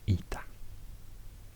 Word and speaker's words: eta: In Greece, also the H sound preceding what became the vowel disappeared somehow, so then it was ita, spelled with an H but pronounced just E.